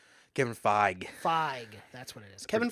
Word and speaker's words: Feige: I don't want to mispronounce his last name. Kevin Feige. What's his name? Kevin Feige. Feige, that's what it is.